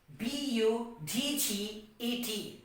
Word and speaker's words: budget: we have is what b u d g e t budget so again d is becoming silent now the third example